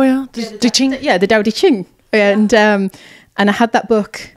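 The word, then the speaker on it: Tao Te Ching: I can never pronounce it. The Tao. The Tao, yeah. De Ching. Yeah, the Tao De Ching.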